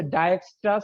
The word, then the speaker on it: Dijkstra: ঠিক আছে, এটার উচ্চারণ হচ্ছে ডায়াকস্ট্রাস অ্যালগরিদম। ডায়াকস্ট্রা তার এস মানে হচ্ছে ডায়াকস্টার অ্যালগরিদম। ঠিক আছে, দেখেন উচ্চারণটা আবার শুনেন, ডায়াকস্ট্রাস অ্যালগরিদম।